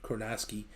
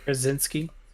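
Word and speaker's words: Krasinski: ever say his name kronoski again to lead it into the new fantastic four movie brzezinski there you go yeah you know it's the ski that always messes me up um i'm a little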